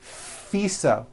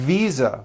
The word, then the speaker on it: visa: her International faisa correct no I said fisa with an voiced F I should have said V Visa with a voiced V living I am living